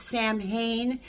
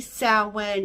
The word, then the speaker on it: Samhain: Halloween, also known as Samhain. It's spelt like it's Samhain, but it's actually Samhain, and this is the witches' holiday.